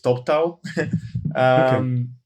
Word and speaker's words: Toptal: I pronounce it incorrectly because I don't speak English very well, but I call it Toptal. And my native English speaker colleagues are probably pronouncing it somewhat differently, but it's Top Talent shortened.